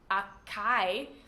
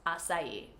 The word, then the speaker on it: açaí: saying this word, and they would say things like, yes, I would like to order an Acai smoothie. And, well, we know now that it's açaí.